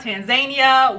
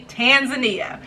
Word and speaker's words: Tanzania: zanzibar creating eeya and you put all three of those together you have tan zan ia tanzania so for those of you out there that have been saying tanzania tanzania whatever pronunciation you have you now know it's actually tanzania so let's say it